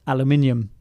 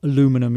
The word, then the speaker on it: aluminium: And so likewise with aluminium, I'm fairly sure that it is now officially spelt without the extra I that would give it that phonetic sound. And so aluminum is indeed the way that I spell it, or pronounce it rather, both because I'm